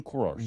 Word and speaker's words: crores: Crores? Yeah. 18 crores.